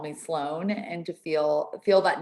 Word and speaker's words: Sloan: name that is um it's like flown sloan square in england sloan circle or whatever it's called sloane square but it's spelled with eve my name's not doesn't